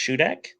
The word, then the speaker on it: Shudak: Is it pronounced Shudak?